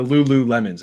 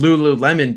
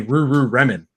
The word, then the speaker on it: Lululemon: properly um and so he came up with Lululemon because he thought it was so funny that when when people of like Japanese descent or whatever um would pronounce it they'd say Ruru reman and uh like they can't say isn't that